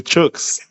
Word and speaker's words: Chuks: They say chooks.